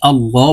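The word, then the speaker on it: الله: রাজিম বিসমিল্লাহির রাহমানির রাহিম আল্লাহু লা ইলাহা ইল্লাহু এখানে আল্লাহ বলতে হবে আল্লাহ শব্দের আগের হরফে জবর অথবা পেশ হইলে এই লামকে ল অর্থাৎ মোটা করে পড়িতে হয় তো এখানে আল্লাহ শব্দের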